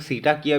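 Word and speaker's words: Cetacea: आती है यह सब कटाकिया के अंदर में आती है अब कुछ लोग सीटा किया भी बोलते होंगे जैसे आपको प्रोनाउंस करना है जैसे आप लोगों को याद रखना है वैसे आप याद रखें च ऑफ द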